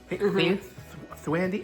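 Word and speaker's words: Thandiwe: Thwandy, how do you say it now? She corrected everybody on the pronounce it, because we used to always say Thandie Newton, but that's not it.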